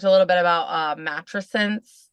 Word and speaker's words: matrescence: little bit about uh mattress since is that how you say it is that proper I I've heard some people say that I say mat tressence but um I think it's like could go either way okay so can you